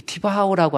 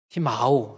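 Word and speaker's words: τιμάω: 티마오, 제가 티바오, 이게 뮤라고 하는 것은 M 발음이 나거든요. 그렇죠? 티마오, 이건 장음오거든요. 티마오.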